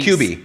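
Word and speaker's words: Cubii: okay now kubi louise how you say it it's cuba qb c-u-b-i-i got it uh so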